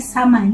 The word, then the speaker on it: Samhain: Se escreve Samhain, mas se fala Samhain, Samhain, tá?